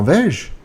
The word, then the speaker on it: vais-je: The S is silent. Vais-je. Vas-tu? Quand vas-tu au parc? Quand va-t-il? Quand va-t-elle? Quand va-t-on? Quand allons-nous? Quand allons-nous au parc? Quand allons-nous au parc? Quand allez-vous au parc? Quand vont-ils au parc? Right, so pronouncing that takes a little bit of practice. Vais-je. Almost like vegetable.